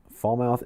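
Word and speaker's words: Falmouth: Fallmouth is actually What is with these silent letters? I tell I swear fall mouth like Frankenmouth. That's how it's actually pronounced according to chat here.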